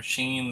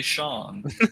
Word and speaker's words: Sean: We've been calling her Sheen this whole time. It's actually Sean.